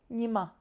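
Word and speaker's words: ཉི་མ: So, here we have a two-syllable word. Nyima, which means sun.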